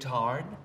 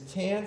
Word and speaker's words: Tan: cohen kept pronouncing it tarn just say the letters t-a-n yeah i think people